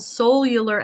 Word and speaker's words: Soul-U-lar: Hey, so it's called Soul-U-lar Evolution, but it's spelled Soul, referring to your soul.